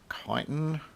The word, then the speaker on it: chitin: yes, I know a lot of English speakers are going to not like the way I pronounce that word. Depending on who you talk to, they may say that it is chitin.